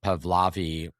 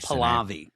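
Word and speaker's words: Pahlavi: leader for the country just as much as Pavlavi if that's how his name is pronounced Palavi Palavi Palavi Reza Palavi um who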